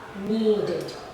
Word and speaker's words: needed: So as you notice, there are 3 different sounds, even though the ending spelling is the same. Okay, they all end in ed, but the pronunciation is different.